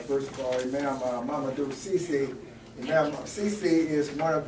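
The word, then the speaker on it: Ceesay: I would like to also introduce, first of all, Imam Mamadou Cisse.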